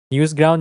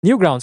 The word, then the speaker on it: Newgrounds: Newsground? Yes, Newsground. Is it Newground? Newgrounds, right?